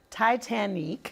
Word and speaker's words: Titanique: Titanic, Yes.